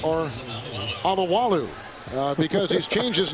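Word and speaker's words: Alualu: I don't know if we're going to call him Aloo Aloo or Alawalu uh because he's changed his name pronunciation in midseason.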